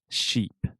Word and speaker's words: sheep: really quick can we compare the pronunciation has the sh sound sh sheep and then jeep has the j ju jeep jeep ship perfect does that